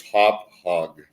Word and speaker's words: Hauppauge: I did pronounce it right. You're from the East Coast. It's Hauppauge.